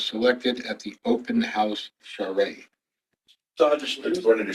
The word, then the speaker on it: charrette: I thought it was turret. whatever it is. It's a word I've never heard before. and Yeah, it's That's one of those French things. Yeah, that's very unusual. I've heard others pronounce it charrette.